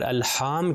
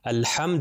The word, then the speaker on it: الحمد: رکھیں۔ جیسے الحمدللہ میں الحمد میں ہا کے اوپر صرف زبر ہے، اس کو کھینچنا نہیں ہے، صرف ملٹیپلائی بائی 1